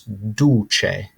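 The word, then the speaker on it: duce: dictator okay and the word for this is duche duche next up we have espresso espresso it's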